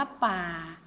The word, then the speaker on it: ป่า: มา ดู ป่า อ่ะ คำ นี้ ก็ คือ อ่าน ออก เสียง ว่า ป่า เห็น ไหม ว่า เสียง จะ เปลี่ยน ไป และ ความ หมาย ก็ จะ เปลี่ยน ไป จาก เดิม ด้วย ก็ คือ ป่า ก็